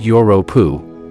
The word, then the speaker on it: Europa: Jupiter's moon Europa, which is pronounced Europa, is a frozen object with liquid water on it that is even within our solar system.